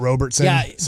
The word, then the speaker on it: Robertson: as well Robertson Robertson oh not Robertson one tough thing about hockey fans is they'll they'll be harsh on you on some of the uh Miss pronunciation so his nickname is Robo but it's Robertson yeah just like David Robertson except it's close no do you see